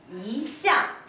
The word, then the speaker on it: 一向: 注意这里的时候发音是二声，一项。